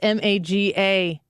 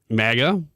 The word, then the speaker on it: MAGA: what it is um how do you pronounce m-a-g-a you go Mega yeah mega mega I keep hearing people say Maga in the news or